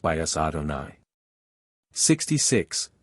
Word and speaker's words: Adonai: letters 65 to ad me meaning Lord and pronounced by us Adonai 66 3 a high which signifies being and